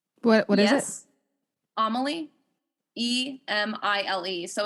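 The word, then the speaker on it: Émile: And so she's directly engaging with the specific text of his, which is Amélie. Am I pronouncing that right? What is it? Amélie. Emile.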